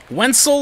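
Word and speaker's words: Wenceel: is when I learned how to pronounce his name wiel like pencil and there he goes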